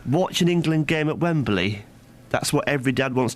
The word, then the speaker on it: Wembley: Wembley. Yeah, all northerners do this. You add an extra syllable.